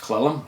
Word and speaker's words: Cle Elum: town called Cle Elum probably pronounced clellum I don't know capital c l e